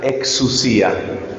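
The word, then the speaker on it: ἐξουσία: aparece en los evangelios, y esa palabra se pronuncia exousia, exousia.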